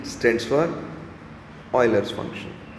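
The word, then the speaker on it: Euler: Spelling तो ये है कि बच्चे उसको यूलर बोलते हैं, बट ये यूलर वूलर कुछ नहीं है, इट्स a Swiss name ऑयलर। तो मैंने यहाँ पे लिखा भी हुआ है कि इसको प्रोनाउंस करना ऑयलर है, ये स्पेलिंग यूलर, लेकिन बोलते समय ऑयलर बोलना है।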